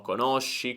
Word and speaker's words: conosci: Quindi ricorda la differenza di pronuncia: conosco, conoscono, e poi tutte le altre sono conosci, conosce, eccetera. Sk e sh.